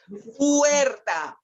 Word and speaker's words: Huerta: Huerta. The H is silent.